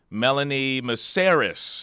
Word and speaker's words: Melanie Mesaros: the guest I have today uh joining me, Melanie Meris. Am I pronouncing that right?